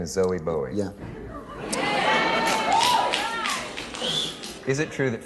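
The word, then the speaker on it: Zowie Bowie: your son's name Zelly your son's name is zoe boa yeah is it true that Frank Zappa has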